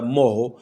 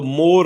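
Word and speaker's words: more: آنے کے صورت میں اس کا تلفظ ہوتا ہے مو، دا مو، تو مور نہیں ہوتا۔ اسی طرح ایم او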